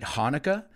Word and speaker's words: Hanukkah: are people who celebrate Hanukkah. Those are Jewish people, Jewish friends of mine who celebrate Hanukkah. Aunque tenga una CH, se pronuncia Hanukkah, which is an eight-day celebration.